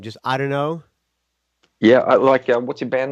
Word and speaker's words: IDunnö: How you pronounce the name? Just IDunnö. Yeah, what's your band name? I don't know.